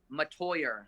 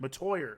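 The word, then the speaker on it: Metoyer: if many a beer how do you pronounce his last name latoya latoya i see i was way off so working with bill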